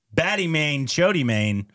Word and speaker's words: Bade Miyan Chote Miyan: Bade Miyan Chote Miyan, I think is how it's actually pronounced, you know?